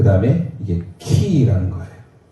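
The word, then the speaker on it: Χ: PX가 아니에요. PX는 군대에 우리 젊은 군인들이 가서 매점에서 산 그걸 PX라고, 이걸 PX로 읽으면 안 돼요. 헬라어입니다. 이 X는 키예요, 키.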